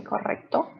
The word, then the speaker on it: correcto: roll the tongue when we have the double r so it's correct so we have to say correcto so next one is